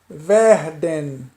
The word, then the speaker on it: werden: Isso na maioria dos casos, a letra W aqui tem um som de V.